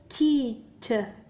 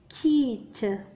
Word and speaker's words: quitte: Q متبوع ب U ثم إي، قلنا بأن الحرف U هنا لا ينطق. نقرأ مباشرة Q مع إي. donc le son c'est qui. ثم يأتي الحرف T مضاعف de T يقرأ ت. ت. الكلمة هي quitte.